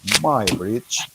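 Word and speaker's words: Muybridge: señor edward my bridge se escribe muy bridge pero se pronuncia my my bridge hizo un experimento en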